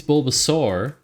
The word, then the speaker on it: Bulbasaur: like how I pronounce Bulbasaur because they think it should be Bulbasaur because it's a a u r but I think it's Bulbasaur not sore yes uh go walk